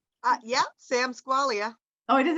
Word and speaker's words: Squailia: Squailia, you want to go, or am I saying your name wrong? Yeah, Sam Squailia.